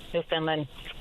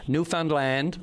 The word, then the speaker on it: Newfoundland: moving and exploring the world and we love New Finland. It's amazing. Okay. So before everybody starts screaming at the radio, it's um we have I have to get you on board. So it's Newfoundland.